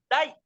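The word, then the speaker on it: 大: En chino se pronuncia da y en japonés o dai, y significa grande.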